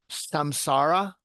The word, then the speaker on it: Samsara: Am I pronouncing this correct? Samsara?